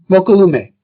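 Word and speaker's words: Mokelumne: Mokilume. It's pronounced Hawaiian style, okay?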